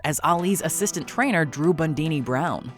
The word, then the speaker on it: Bundini: But do not think Fox is down for the count as Ali's assistant trainer Drew Bundini Brown. I'm called Bundini. Rhymes with Houdini.